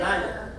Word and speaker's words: Nyil'a: That's how you say it, Nyil'a.